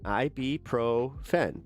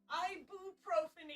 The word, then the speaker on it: ibuprofen: You were saying ibuprofen. It's ibuprofen. So I'm still saying it wrong. Irroofen is not right. It's ibuprofen. Wow, she got that mad